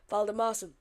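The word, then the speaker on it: Valdimarsson: I found out at half time that is how you say his name. Valdemarson.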